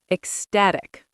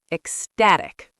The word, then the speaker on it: ecstatic: Ecstatic. The stress is on the second syllable. Ecstatic.